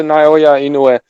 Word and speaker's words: Naoya Inoue: I said that from the very beginning, and I'm gonna do all the Naoya Inoue fanboys are solid because I'm sure you guys don't even know how to pronounce his name.